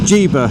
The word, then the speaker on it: Llívia: Ja. It's a It's a really weird pronunciation, but we go to this place called Ja, which is a Spanish exclave.